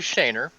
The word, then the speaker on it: Schoner: So, just to clarify, the Showeeners, it's actually Shaner.